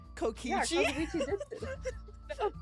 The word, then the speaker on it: Kazuichi: When we mentioned Nagito at the restaurant, Kazuichi, yeah, that's how you say it, looked pretty unsettled about something.